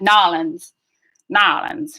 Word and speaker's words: New Orleans: Probably because it takes too long to say Southern, so it's just like worn down over time, like how people say New Orleans. They're like Nolans, right?